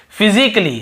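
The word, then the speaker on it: physically: और देखिए फिजिकली, हम क्या पढ़ते हैं, फिजिकली, ये देखिए फिजिकली, तो यहां पर भी ए का उच्चारण नहीं हो रहा है।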